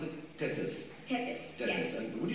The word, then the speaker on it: Tethys: So would you show us, how do you pronounce it? Tethys.